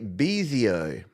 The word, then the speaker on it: Bezio: Let's kick off a big second half here with our old mate, Bezio. Do you know how I know that you pronounce it Bezio?